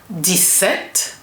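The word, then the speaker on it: dix-sept: set this with this nf and the right pronunciation will be this set dete.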